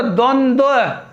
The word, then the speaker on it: द्वंद्व: और द्वंद्व नहीं होता, द्वंद्व, दा वाह है, यहाँ पूरा वाह है, और इस दा में भी पूरा वाह है, द्वंद्व उच्चारण होगा इसका।